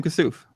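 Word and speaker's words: Kassouf: Is that how you pronounce his name? Oh yeah, William Kasouf.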